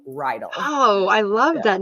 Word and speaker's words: Reidl: Most people say Rydell because they've watched Grease before and the high school is Rydell High. So I usually get that, but you said it right. It's like a horse Oh, bridle without the B. So Rydell.